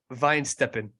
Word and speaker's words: Weihenstephan: the pronunciation all right pronunciation is Vine Steppin oh that's bro there's way more syllables what is it Vine stepping wine Stefan yeah what about the Stefan what about the fauner